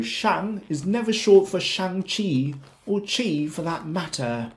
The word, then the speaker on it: Shang-Chi: to pronounce it as shang chi shan chi shang chi the first word rhymes with bang sand and land the second has a ch sound as in church and choice once again you may